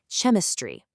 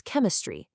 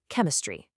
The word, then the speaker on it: chemistry: Chemistry. Again, that's wrong. Chemistry. I'm sure you've guessed it by now. That ch should make a hard K sound. The correct pronunciation is chemistry. One more time. Chemistry.